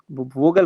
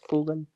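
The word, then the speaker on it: Vogel: वोगल होना चाहिए। लेकिन क्या हो जाएगा? ये प बन जाएगा। तो ये हो जाएगा फोगल।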